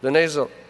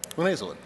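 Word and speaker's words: linezolid: A, ciprofloxacin, B, levofloxacin, C, nitrofurantoin, D, sulfamethoxazole trimethoprim, or I can never say it, linazol. Help me out, guys. Linazolid. Yeah, I have trouble with 3 syllables.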